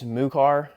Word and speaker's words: MUCAR: I think it's MUCAR, M-U-CAR. This is going to be the VO6.